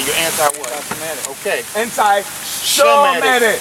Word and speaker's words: Semitic: Anti-Semitic. Okay. Anti-Shemitic. They don't even say it right. It's really Shemitic.